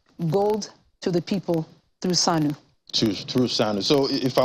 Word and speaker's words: Sanu: So it's spelled SANU as in... Almost like SANU in Hausa, but SANU means gold in Bambara, in Mali.